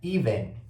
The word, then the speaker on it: even: Então o primeiro tem som de i, e o segundo a gente vai juntar com o V e o N e vai fazer um som de então é ven.